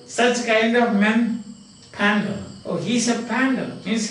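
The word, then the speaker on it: Pandar: And now you have got again very interesting questions like, you know, you remember this man, P-A-N-D-A-R, and that is pronounced Pandal. Not Pandal, but Pandal.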